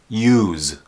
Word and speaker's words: use: medication drugs and Technology to pronounce this word properly the S has a z sound Z use if there's an S